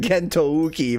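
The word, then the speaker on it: 幻灯機: Oh yeah, I pronounce it Gentouki, but of course the OU is just a lengthened O.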